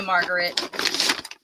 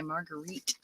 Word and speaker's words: Marguerite: We've been missing you, Margaret. I said it wrong, didn't I, Marguerite?